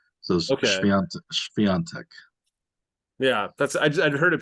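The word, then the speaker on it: Świątek: But I guess um, one of the accent marks Oh gives yeah. an N sound. So Okay. Swiatek.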